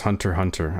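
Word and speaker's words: Hunter × Hunter: You can say hunter x hunter as hunter. Hunter. Okay, good to know. You pronounce it just hunter hunter. No cross or saying x.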